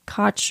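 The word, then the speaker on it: Cait: of his is actually Koch O'Riordan who used to be married to Elvis Costello oh and I thought it was Kate well he calls her Koch it's probably some Irish pronunciation and I was like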